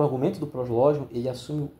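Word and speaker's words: Proslogion: Eu acho que se pronuncia assim, prosló.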